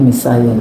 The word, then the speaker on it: Messiah: Messiah. Mesiah. Iya. Bacanya Mesayah. Bahasisnya Mesayah.